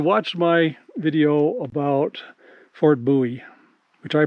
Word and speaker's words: Bowie: so if you watched my video about Fort buoy which I pronounced Bowie because I didn't know any better um there's